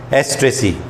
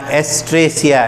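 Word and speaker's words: Asteraceae: Sunflower family भी बोल सकते हैं इसको, एस्ट्रेसी। इसका हिंदी वाली किताब में देखना एस्ट्रेसिया ऐसे छपा हुआ, एस्ट्रेसिया, एस्ट्रेसिया।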